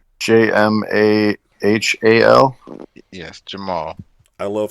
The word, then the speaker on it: Jamahal: Was it against Jamal Hill? Oh, it sure was, sir. I assume that's how you pronounce Jamahal.